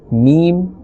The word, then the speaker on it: م: Alright, and only 4 letters from these 29 letters are pronounced from the lips, and those letters are ba, fa, mim and waw. Besides these 4 letters, no other letter must be pronounced by moving the lips.